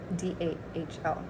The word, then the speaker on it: Dahl: By Roald Dahl, Dahl, if you were wondering. Roald is spelled Roald, and it's Dahl.